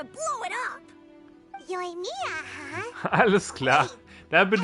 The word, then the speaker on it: Yoimiya: Yoimiya, huh? Alles klar. Da bin ich ja froh, dass ich es richtig ausgesprochen habe.